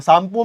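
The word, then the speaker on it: Tsangpo: सांगपो में T silent है, ठीक है? सांगपो बोलते हैं इसको, सांगपो, सांगपो, है ना?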